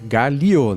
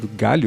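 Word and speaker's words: gálio: metal que derrete alumínio também é Galio né não é galho Galio mas a pronúncia para mim é a mesma é só para quem for pesquisar e não falar galho ele muito g a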